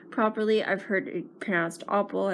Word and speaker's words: Oppel: I've heard it passed Oppel I've heard it pronounced Appel I say opal so I'm sorry if that's not pronounced properly the best selling offer